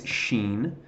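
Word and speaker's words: שׁ: how you pronounce it so if the dot is over the third of these little markings see a third to the right it's Xin if it's to the left its seen okay so that's just Li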